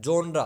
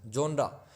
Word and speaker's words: genres: To different जोनरा, GENRES, इसको क्या बोलते हैं? जोनरा, प्रोनाउंसिएशन जोनरा।